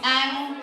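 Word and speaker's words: ăn: Okay, how you say eat is ang. It sounds like A-N-G, but it's just A-N. So it's ang.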